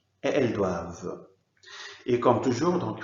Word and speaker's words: doivent: surprenant spa c'est pour ça que ça se prononce ils doivent elles doivent et quand jours donc il faut pas laisser